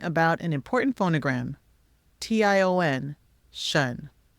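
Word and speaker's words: -tion: But first, let's learn about an important phonogram, T-I-O-N, shun. The T-I-O-N phonogram is pronounced shun and is often used at the end of words.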